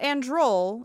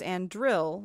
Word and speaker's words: Andril: It's not androl, it's andril, but there's Master Andril gets a mourning, but he's very old. So I'm like, did andril get into her song somehow? It's spelled different, but only by one letter.